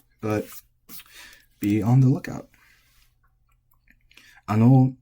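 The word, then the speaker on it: あの: Ano is flat.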